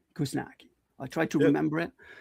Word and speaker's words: Kuzniacki: I wouldn't say you butchered it. It's Kuzniacki. Kuzniacki. Yeah. Oh, okay. All right, Kuzniacki.